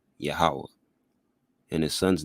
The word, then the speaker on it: Yahawah: hold fast that the Most High's name is pronounced Yahawah and his son's name Yahawashi.